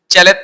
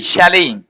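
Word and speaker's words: chalet: তারপরে এর উচ্চারণ চ্যালেট, নট, নট চ্যালেট, আমরা বলি চ্যালেট, এটা উচ্চারণ হবে ছ্যালেই, শ্যালেই।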